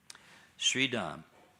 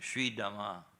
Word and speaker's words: Sridhama: So, starting with Sridham. Do you, actually, I should pronounce it correctly. Sridhama.